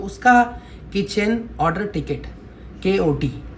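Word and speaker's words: KOT: जैसे प्रोनाउंसिएशन जैसे हमारा सबसे इंपॉर्टेंट है के ओटी। तो बहुत सारे उसको क्या बोलते हैं? Cutie cutie. कटी नहीं है के ओ टी है उसका उसका हर चीज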